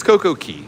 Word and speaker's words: Coco Cay: It's Coco Key. The proper Bohemian pronunciation is Coco Key.